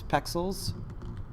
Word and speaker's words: Pexels: So where I've been going recently is Pexels. I'm not saying it wrong. It's not spelled like pixels, P-E-X, yeah, Pexels.